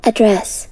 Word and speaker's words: address: 자, address 하면은요, 이게 발음이 두 가지가 될 address. 수가 있어요. 명전동후라는 말 들어봤나요? 못 들어봤을 수도 있는데, 그게 뭐냐면, 명사는 앞에, 동사는 뒤에 강세가 온다는 거예요. 그래서 우리, address 하고 앞쪽에다가 강세를 두면 명사니까 주소라는 뜻이고요.